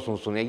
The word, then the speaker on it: Zunzunegui: Yo ni siquiera sé pronunciar mi apellido aquí, yo llego, digo Zunzunegui y lo escriben con S. Entonces cada que voy a venir a Madrid tengo que practicar Funfunegui, y ni siquiera sé si lo estoy haciendo bien, pero bueno.